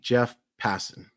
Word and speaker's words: Passan: Cal Raleigh, Jeff Passan.